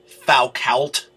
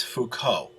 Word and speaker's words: Foucault: to say that that's thou cult but no that's a french name it's foucault the way it's pronounced now uh so it